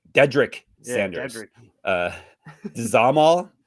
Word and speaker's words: Dzhamal: Dzhamal. Dzhamal, is that how you say his name? Shamal, right? Shamal. That will make much more sense. DZ or Z for you Americans.